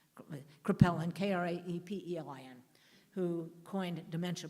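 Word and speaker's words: Kraepelin: a man called I never get it the pronounce it correctly krippeliner crepel and k-r-a-e-p-e-l-i-n who coined dementia precox and his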